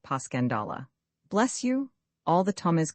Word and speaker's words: Passchendaele: Marchant, it was so strange to hear you call it Passchendaele. Why, if I may ask? Because that's the way I pronounce it to myself, but I looked it up and it's more like Paschandala.